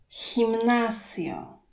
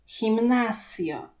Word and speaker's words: gimnasio: Gimnasio. Gimnasio. G, jeżeli występuje przed E albo I, czytamy jak polskie H. Powtórzmy. Gimnasio.